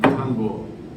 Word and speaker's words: tanbur: This instrument is very ancient, hundreds of years old, from Iran and Kurdistan, tanbur.